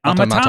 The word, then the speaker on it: Automata: They're like, "Thank you for playing Nier," and it's like Automata.